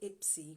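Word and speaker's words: IPSE: and the self-employed association so they pronounce it ipsy which is cute i think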